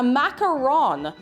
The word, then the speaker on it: macaron: good they're they're pronounced that's a macaroon with two o's a macaron macaron around macaroni this is a macaron i will i i